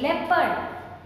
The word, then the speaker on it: leopard: Leopard, no R sound.